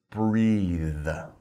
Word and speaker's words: breathe: put an e on the end and we pronounce it breathe okay so breath breathe be careful don't get